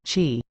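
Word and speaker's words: qi: force or energy called chi or chi pronounced chi when this energy which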